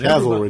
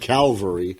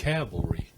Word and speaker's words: cavalry: And Cavalry, not like Calvary.